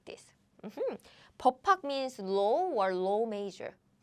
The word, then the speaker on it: 법학: So the pronunciation is not 법학. No. We say 법학.